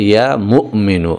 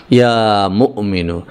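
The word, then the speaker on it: يا مؤمن: বন্ধুরা আমার, এখানে যদিও বাংলা লেখা হয়েছে মুমিনু, কিন্তু আসল উচ্চারণটা হচ্ছে ইয়া মুমিনু। এখানে মিমের পরে একটা হামজা রয়েছে, একটুখানি ধাক্কা হবে এভাবে, ইয়া মুমিনু।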